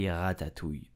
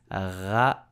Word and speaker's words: ratatouille: But French will just say ratatouille. So how do you pronounce it correctly step by step? First, you have to know how to pronounce the R like a French. So ratatouille, ratatouille, ratatouille.